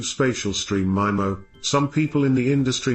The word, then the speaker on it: MIMO: 802.11n is the first standard in the 802.11 family to support MIMO, pronounced MIMO, which stands for multiple inputs, multiple outputs, which